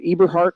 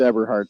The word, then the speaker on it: Everheart: Talked to John the other day and I asked him, "I was it Eberhart or Everheart?" It's Everheart. I said, "Well, I like Eberhart, but I probably should say it right."